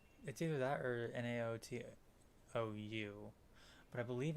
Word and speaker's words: Naoto: I always forget how to pronounce their names. That is N-A-O. No. T-O. I believe it's either that or Naotou.